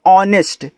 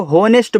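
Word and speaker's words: honest: तो इसको पढ़ते हैं ऑनेस्ट। अब जिनको तरीका नहीं पता इसको होनेस्ट बहुत लोग पढ़ते हैं। भैया होनेस्ट नहीं है। इसको ऑनेस्ट पढ़ते हैं क्योंकि यहां एच जो होता है आपका साइलेंट होता है।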